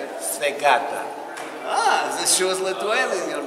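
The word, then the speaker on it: į sveikatą: Svegata.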